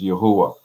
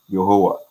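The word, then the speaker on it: Yehowah: Yeah, so you will see the word Y-E-H-O-W-A-H in Ghana. I seen, you know, we in America, we might say Jehovah, but in Ghana pronunciation is Yahuwah, Yahuwah.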